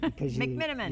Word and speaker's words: McMenamin: McMenamin.